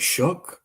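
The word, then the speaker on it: Shough: I think it's like Shook or something like that.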